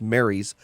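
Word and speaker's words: Marie's: Mary's and it's spelled Marie, but it's pronounced Mary's flies.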